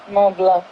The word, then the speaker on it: Mont Blanc: The C is silent. Mont Blanc.